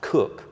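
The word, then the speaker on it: Coke: jurists sir Edward Koch at spell coat pronounced cook uh so he extended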